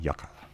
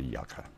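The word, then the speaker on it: yucca: palm fronds before I go or even some yoga and I have looked up the pronunciation of it and as far as like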